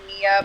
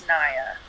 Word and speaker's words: Niia: Some people say Nia, but Yeah. it's Niia. It's Niia.